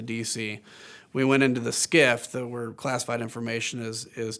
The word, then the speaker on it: SCIF: We went into the SCIF [sensitive compartmented information facility, pronounced “skiff”], where classified information is discussed, and she talked about the information that Cassidy had come forward with.